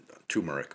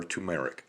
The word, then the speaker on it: turmeric: loss and that is ground turmeric or tumeric however you want to pronounce it that's your choice uh this if you